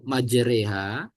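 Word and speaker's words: مجراها: Ibu tadi saya benarkan yang majreha itu cara bacanya dibaca condong itu hukum bacaannya imalah maj reha maj jadi yang ra itu pakai e ya Pak ya tidak setiap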